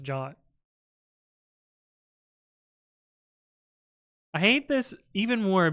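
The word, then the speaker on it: JWT: know what that is did you know that JT is supposed to pronounce jot no that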